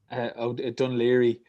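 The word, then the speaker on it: Dún Laoghaire: How do you pronounce this? Dunleary.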